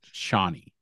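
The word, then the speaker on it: Chani: Well, I believe it's pronounced Shawnee, but anyway.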